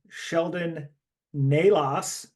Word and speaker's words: Sheldon Nalos: We are joined tonight by Sheldon Nalos. Did I pronounce that correctly?